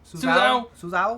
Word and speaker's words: Suzhou: So Seagate, they shut down one of their biggest production facilities in Suzhou, China. That's the only way I can pronounce it correctly. Suzhou.